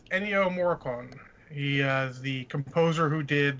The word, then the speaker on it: Ennio Morricone: the way sorry there is that better it's Ennio Morricone he's the composer who did the good the